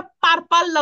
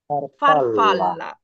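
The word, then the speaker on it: farfalla: এতে যেমন ফারফাল্লা প্রজাপতি আমরা কিন্তু এটা পারপাল্লা উচ্চারণ করবো না শব্দটাকে পারপাল্লা উচ্চারণ করবো না কিভাবে করবো ফারফাল্লা ফারফাল্লা এইতো ফারফাল্লা আচ্ছা এলে তো ল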